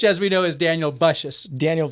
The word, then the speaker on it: Bussius: If for nothing else, so we could put to rest the long debated question of the pronunciation of your last name, which as we know is Daniel Bussius. Daniel Bussius, yes.